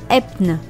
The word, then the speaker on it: Höfn: Nous voici arrivés dans la petite ville de Höfn, enfin en islandais il faut prononcer Epn.